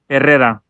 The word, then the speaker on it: Herrera: and as he pronounces, it's supposed to be pronounced Herrera. I'm sorry, let's start again. Herrera, because it's got a double R and then the one R at the end. So it's Herrera. It's like saying Guerrero yeah, or Gutierrez.